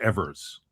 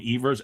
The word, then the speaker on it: Evers: Um ah Johnny Ivers though Johnny Ivers said himself that you could pronounce his names or evers. Everybody in baseball called him Ivers. Everybody in like his hometown of Troy, New York called him Evers. So he said either way is fine.